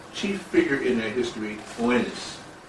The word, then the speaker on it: Oannes: They had as a chief figure in their history Oannes. Oannes, and that's spelled O-A-N-N-E-S.